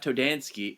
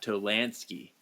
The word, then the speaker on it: Tolansky: It's not Toad, it's not Todd Todansky, it's Todd Tolansky. Tolansky.